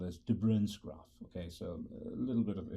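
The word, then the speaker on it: de Bruijn: what is called as tebron's graph okay so finish with the pronunciation of Dutch names but I think the pronunciation of the correct pronunciation is difference graphs and so let's look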